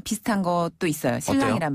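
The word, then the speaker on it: 新郎: 중국식으로 바꾸자면 바로 지혜 혼이고 지혜 훈 그렇죠 신랑이랑 신부는 발음이 우리 한국 발음이랑 비슷한 것도 있어요 신랑이란 발음 자 신랑 먼저 신랑 아 정말 신랑이나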